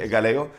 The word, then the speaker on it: Egaleo: One time I was in Egaleo. Did I say it right? Yes. Egaleo.